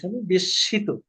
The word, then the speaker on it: বিস্মিত: কুল হেসিমসিন Alibaba আবা খুবই বিস্মিত হলো খুবই বিস্মিত হয়ে গেল এবং মনে মনে বলল শব্দ শব্দটা কি বিস্মিত বিশিত দন্তস এর নিচে লে ম উচ্চারণ হবে না দন্তসটা দুইভাবে উচ্চারণ হবে বিশিত